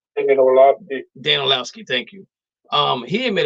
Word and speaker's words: Orlovsky: I can't pronounce his name correctly. Dan Orlovsky, thank you.